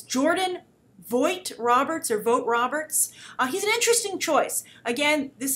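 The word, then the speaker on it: Jordan Vogt-Roberts: I want to make sure I pronounce his name right. So it's, let's see here. It's Jordan Vogt Roberts.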